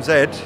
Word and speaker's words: Z: while um the system Zed uh not Z as we pronounce it in yeah that's a European thing it is yeah um